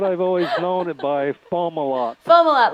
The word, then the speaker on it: Fomalhaut: How do you pronounce this star, Kent? Fomalhaut. Fomalhaut.